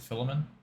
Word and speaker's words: Philemon: Who How often do you read Titus or Philemon? I don't even know how to say it. Is it Philemon?